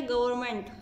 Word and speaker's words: government: Next है गवर्नमेंट, GOVERNMENT, गवर्नमेंट मतलब सरकार। इसमें एन को साइलेंट भी कर सकते हैं, गवर्नमेंट GOVERNMENT।